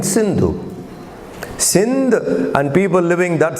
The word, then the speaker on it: Sindhu: Greeks, when they came, they could not pronounce Sa. So they, instead of Sindh, they called it Hind. Sapta Sindhu in Persia would be Hapta Hindu. Sapta Sindhu, you know. So they mispronounced it as Hindu. It should have been Sindhu.